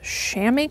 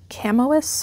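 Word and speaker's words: chamois: an LL Bean mins I think it's pronounced Shamy cloth shirt that's how someone told me I would have pronounced it camois or shamis but someone say it's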